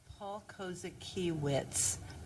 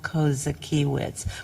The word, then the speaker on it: Kozakiewicz: His name is Paul Kozakiewicz. Paul, it's like, phonetically it's Kosakiewitz. Paul Kozakiewicz. But I don't know how he spells his last name. But that's how he pronounces it.